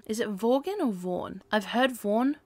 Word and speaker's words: Vaughan: Vaughan.